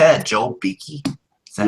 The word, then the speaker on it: Beeke: Joel Beeke?